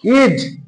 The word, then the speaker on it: is: যেমন এস এ বর্গীয় জ হবে, আমি বলেছি ভাওয়েল যদি আগে থাকে, তাহলে দেখো ইজ, আই এস, ইজ বর্গীয় জ আসলো।